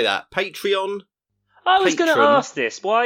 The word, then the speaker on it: Patreon: goodman for like weeks would say portray on and they would everyone just tweet it them be like it's patreon it's about saying it